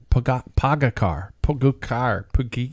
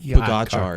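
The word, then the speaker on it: Pogačar: Pogacar. Pogacar is how we first started.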